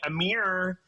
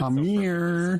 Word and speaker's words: Amir: my name so beautifully most people say Amir so I love that you said it I'm here thank you I can